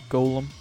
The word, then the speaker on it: Golem: much to his surprise this ends up being pronounced like Gollum anyway on the side